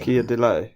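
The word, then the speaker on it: Keir Dullea: His surname is pronounced dule. Kia delay.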